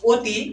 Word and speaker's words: অতি: তো দেখো অতি এখানে অ এর উচ্চারণ ও এর মত। এখানে ও এর উচ্চারণ কিসের মত? ও এর মত। অতি।